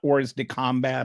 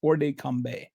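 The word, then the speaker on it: hors de combat: First of all, this uh orde combe it's the t is not pronounced by the way. I've I don't know French, but I've kind of looked up how to pronounce this. It's not ord combat or something.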